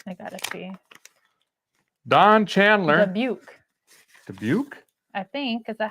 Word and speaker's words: Dubuque: I forget that they live Dubbubuke. over there. Can someone like hooked on phonics type out Dubbubuke? How you're supposed to pronounce it? For Pete's sake. I gotta see. Don Chandler. Dubuque.